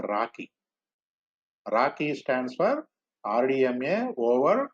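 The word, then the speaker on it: RoCE: rdma over converted ethernet roc pronounced as a rocky rocky stands for rdma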